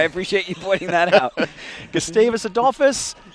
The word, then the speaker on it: Gustavus Adolphus: you pointing that out gustavis adus you can just call them gustavis for short that's what uh most people in Minnesota do sometimes you forget there even is an adus on the end of it um and I think